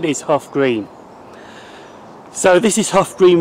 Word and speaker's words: Hough Green: This is the second station I'm visiting today, Hough Green, which is the wrong pronunciation of this station. It is actually called Hough Green.